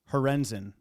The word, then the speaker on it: Horenzen: But Bottom Feeder says Tyler's last name is pronounced Horenzen.